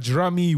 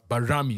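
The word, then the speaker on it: Bajrami: saved that goal but Jami was uh bar Ramy is actually how you say his name this time he played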